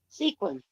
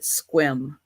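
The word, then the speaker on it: Sequim: of my No, actually, you you leave one of the letters out when you pronounce it. And I don't know. Yeah, you leave you leave the E out and you just call it squim. Squim. Okay. Squim. That's how it's pronounced.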